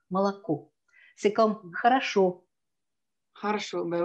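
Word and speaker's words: молоко: Comme par exemple, vraiment enregistrer dans sa mémoire que Malaco, c'est un O qui se prononce A. Malaco.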